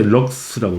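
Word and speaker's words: lux: 그러니까 면적당 받는 빛의 세기를 조도라 하고, 이 단위는 LX라 쓰죠. 읽을 때 럭스라고 읽어.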